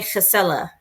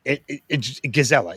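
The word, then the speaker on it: gezellig: Oh, I So I have that um uh gazella. Yeah, gazelli. It's g e ze l i g. But I think he says like it's well it's the Dutch pronunciation right as well.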